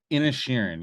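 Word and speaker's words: Inisherin: Inishirin, yes, Inishirin. I can, when I see it, I can say it properly. Just think Ed Sheeran.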